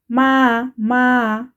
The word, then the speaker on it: máa: Notice that the pronunciation changed. it is no longer ma, but ma, ma.